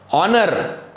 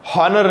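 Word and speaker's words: honour: हॉनररी नाही म्हणायचंय बरं का त्याला, ऑनर. आर एच बऱ्याच ठिकाणी सायलेंट असतो, ऑनर हॉनर नाही, आर हार नाही, हावर हावर नाही, आर त्याला काय म्हणायचंय आर एन आर.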